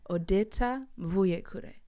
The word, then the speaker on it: Odeta: like it thank you if you want to say my name the proper way it's odetta yeah how did you